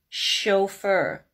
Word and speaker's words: chauffeur: to C2 level chef chauffeur so why are they higher level because here the CH sounds like an sh but it's not request a video